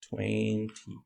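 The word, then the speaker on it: twenty: So 20, when we have this pattern, 20, when we have the letter N, T, and a vowel, right? And that's not the stress, that's not the strongest syllable. You can drop the letter T. You can not pronounce it, okay?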